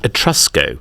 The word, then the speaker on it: Etrusco: this brand is called at trusco it's spelled with a v in their branding so ET R VSCO a bit like Bulgari do you know that